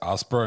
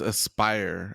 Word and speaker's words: Aspyr: I think it's Asper and I don't know how to pronounce their name. Yeah, it's Aspire. Aspire.